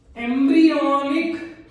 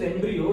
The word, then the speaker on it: embryo: gastrulation में important point क्या है, द फर्स्ट एम्ब्रियोनिक, ऐसे कुछ लोग होते हैं जो इसको एम्ब्रायो